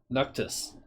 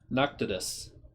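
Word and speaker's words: Pnakotus: know i did p-n-a-k-o-t-u-s i think the p is silent noctis noctitus the lost city of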